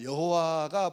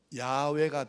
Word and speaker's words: 야훼: 그런데 나중에 이제 종교개혁 이후로 인쇄술이 발명된 후로 학자들이 더 연구를 많이 해봤더니 여호와라는 말은 발음이 안 맞아요. 야훼가 더 맞가.